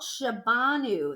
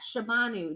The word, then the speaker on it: Shabanu: this book it's called Chabon ooh that's how we pronounce that Cheban ooh daughter of the wind all